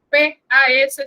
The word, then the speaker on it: pas: el verbo y luego pa. Recuerden, P-A-S se pronuncia pa, la S no se pronuncia y siempre debe ir.